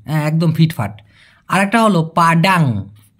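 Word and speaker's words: padang: পাডাম মানে মুছে ফেলা। পাডাম মানে ডিলেট করা বা মুছে ফেলা। একই রকম শুনতে পাডান। পাডান। এই পাডান মানে হচ্ছে প্রপার অথবা ফিট। পাডান। একদম ফিট ফাট। আরেকটা হলো পাডাং।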